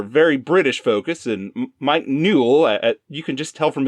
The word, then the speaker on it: Newell: It's directed by Mike Newell, which rhymes with cool.